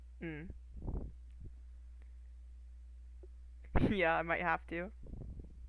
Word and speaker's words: ん: Doesn't have a vowel sound associated with it, it's just n.